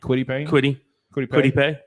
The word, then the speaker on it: Kwity Paye: I would say Kwity Pay. Kwity Paye. Yeah. Kwity Paye.